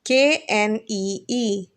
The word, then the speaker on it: knee: is it called knee KN e e here the K is silent so we pronounce it as knee the second picture you